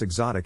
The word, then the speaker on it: exotic: Phonetic Alphabet to pronounce exotic have in mind that the size of the syllable indicates where the accent of stress is in this case the accent is in the second syllable corresponding to zot hello